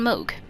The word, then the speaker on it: Mohg: be uh regarding how how I take down Moog or MOG depending on how you pronounce it so as we all know the